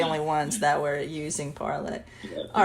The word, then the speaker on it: Parler: I think they originally wanted it to be called Parlay, like in French, parlay, but I think they